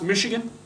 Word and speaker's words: Michigan: in the us it's pronounced michigan yeah like fish yeah the bbc has